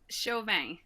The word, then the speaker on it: Chauvin: Is it Chauvin? I'm terrible with That is pronunciations, but did I get it right? Chauvin.